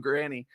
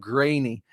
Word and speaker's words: Grainy: Called him Granny instead of Grainy.